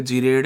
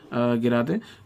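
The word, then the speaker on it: gerade: अनगिरा दे, G इज गिरा दे, ठीक है। कई लोग इसे जीरेड है अनजीरेड बोलते हैं, पर actual pronunciation is अनगिरा दे एंड गिरा दे।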